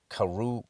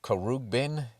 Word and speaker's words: Khruangbin: Khruangbin, Khruangbin.